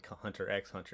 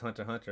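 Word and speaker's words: Hunter × Hunter: time we watched it i called was calling hunter x hunter and she's like it's hunter hunter i was like i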